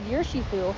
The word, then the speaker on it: Urshifu: Yeah, But then the Urshifa. Pokedex said Urshifu, and I was like, I'm gonna go Urshifa, and apparently I was wrong.